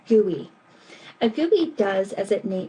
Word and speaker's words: GUI: software today uses a graphic user interface GUI which is pronounced gooey a gooy does as